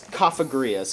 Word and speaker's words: Cafagrias: It's it's cafagrias because it's supposed to be like coffin and yeah.